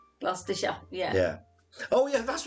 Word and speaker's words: Gloucestershire: we read them uh glaucestershire as the americans uh say it yeah it's gloucestershire gloucestershire yeah yeah oh yeah